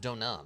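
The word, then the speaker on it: Deauxnim: D Nim makes sense to me actually it's pronounced donam okay Miss donam ha what a sweet thing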